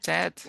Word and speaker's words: interested: então, Então, em vez de interesting, interested. você vai falar interested, né? A pronúncia é tid, Interested.